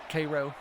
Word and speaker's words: Cairo: Butts, you must have married someone from South Georgia or something because you pronounced that city correctly. Cairo.